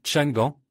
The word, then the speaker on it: Changan: Le nom se lit Changan. Bien que comme je l'ai dit, les concessionnaires écrivent Shangan sur leurs enseignes.